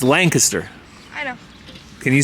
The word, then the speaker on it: Lancaster: Mazy did you know we've been saying it wrong the whole time what it's not Lancaster it's Lancaster I know can you